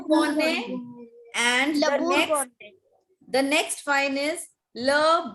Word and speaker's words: Bourgogne: The first wine that is given is Le Bourgogne. Le La Bordeaux. Bourgogne. Gogne nahi. It's not Gogne. It's Gonne. The next G is silent.